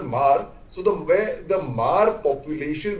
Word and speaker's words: Hmar: lot of Mar population, HMAR, it's pronounced as Mar.